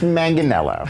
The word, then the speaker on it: Manganiello: what's going on with you remember Joe Manganiello pronounced Manganiello thank you for setting the record straight Daniel